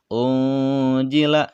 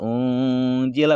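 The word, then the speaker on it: أُنزِلَ: Apabila nun mati bertemu dengan huruf ikhfa, maka ini cara membacanya samar dan dengung, ya. Unjila samar, unjila mendengung, unjila. Nah, jadi menjadi suara ketika menyebutkan nun sukunnya itu terdengar n atau terdengar ang, ya. Dibacanya boleh 2 harkat, boleh 3 harkat.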